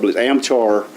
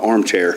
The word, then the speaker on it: Amchar: the guy with a amchar I always want to call an armchair but it's spelled a-m-ch-a-r on amchar is the name of the company and the guy came